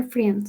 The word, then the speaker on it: friends: My sister didn't, Play basketball with her friends. excellent, with her friends. Ahí la I no suena, listo.